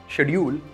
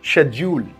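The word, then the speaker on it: schedule: कहते हैं शेड्यूल well this word is नॉट शेड्यूल it's pronounce शेड्यूल सो इट्स not dull it's joule English में मैंने आपको बताया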